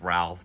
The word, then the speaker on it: Rolf: Robert thinks Rolf, it sounds like it says Ralph, but it's spelled Rolf here, has been killed or drowned by the rapids.